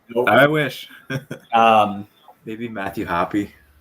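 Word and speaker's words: Hoppe: wish um maybe matthew happy i hate that it's pronounced happy i'm sorry i know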